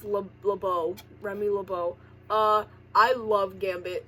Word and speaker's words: LeBeau: It's pronounced LeBeau.